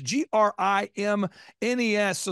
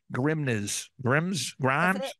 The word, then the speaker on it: Grimnes: Add an S, you will pronounce it correctly. Yeah. So think of it. My dad would say, think of it as, like, don't say this, Dad. He's like, think of it as, like, the grimness of the situation.